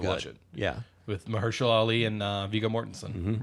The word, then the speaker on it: Mahershala: I always pronounce it as Mahershala, but it's Mahershala Ali, which I just thought